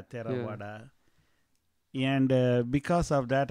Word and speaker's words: Theravada: How you pronounce that? Like the Theravada, and it's the TH Theravada. Correct, yeah, Theravada.